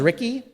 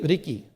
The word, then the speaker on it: Riki: And you can pronounce it Riki for power. And Reverend Harada's son's name is Ricky, but it's really Riki.